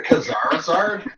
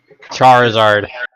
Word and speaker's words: Charizard: The Khazarzard? The Kazarazard. The Kazara Charizard. Wait, how do you pronounce that again? Charizard. Czar. Zar. Oh, okay. Yeah, the Like the Russians.